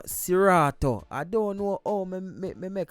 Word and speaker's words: Seratuh: the previous review and mistakenly pronounced him named wrong macall artist satora when the artist named sirato i don't know oh